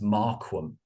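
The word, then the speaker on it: Marquam: you know Mark Wells Markham was actually how it's spelled m-a-r-q-u-a-m very unusual so I actually man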